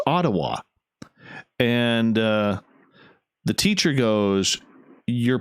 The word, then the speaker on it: Ottawa: And I said, "It's Ottawa." And the teacher goes, "You're pronouncing it wrong." And she goes, "No, I'm not." And the teacher goes, "It is pronounced Ottawa. Ottawa.